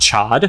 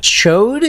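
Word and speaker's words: Ch'od: the name of the big lizard character is chode and not Chad chode yes are you sure that's what they say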